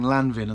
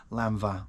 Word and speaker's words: Lanvin: lvo something like that I was saying Lanvin and somebody said it's actually pronounced lva or something like that which is pretty obvious considering it's French brand but yeah I